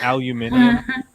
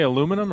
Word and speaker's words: aluminium: got alfoil oh sorry aluminium aluminium is that how you say it do you say aluminum or aluminium aluminium we generally say words how they're spelt that's not how you